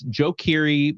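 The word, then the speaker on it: Joe Keery: do another song by I've heard people say his name multiple ways but I say Joe but it's DJ uh it's Joe Kiri uh from stranger things he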